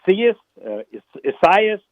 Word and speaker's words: Isaias: The correct pronunciation is Isaias.